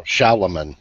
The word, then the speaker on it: Shalomon: No, Shalomon. It's different. S-H-A-L-O-M-O-N. Shalomon.